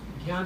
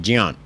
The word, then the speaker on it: ज्ञान: र मिक्स है ना, ऐसे यहाँ ज और ञ ये दो मिक्स हैं, इसको मिश्रित अक्षर बोलते हैं, मिश्रित वर्ण। ज्ञ, इसका शुद्ध उच्चारण ऐसा है। और ज्ञान बोलते हैं, वो तो गलत है, वो ठीक नहीं है।